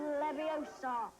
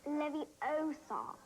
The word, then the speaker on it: Leviosa: Leviosa. Stop. Stop. Stop. You're going to take someone's eye out. Besides, you're saying it wrong. It's Leviosa, not Leviosa.